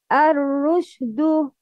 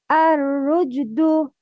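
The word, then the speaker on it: الرشد: It's wrong to pronounce sheen as jim, which is emitted from the middle of the tongue.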